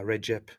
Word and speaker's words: Recep: yeah, Recep.